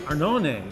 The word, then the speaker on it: Arnone: I'm gonna try and say it like Italian. Say Café Arnone Arnone is located in Fairlawn.